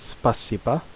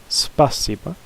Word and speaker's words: спасибо: But here it's спасибо, спасибо.